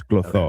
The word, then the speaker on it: Clotho: Greek is read exactly how it's spelled. So, and remember too, like there is no C. So if it is a C, it's actually a K. So it's Clotho.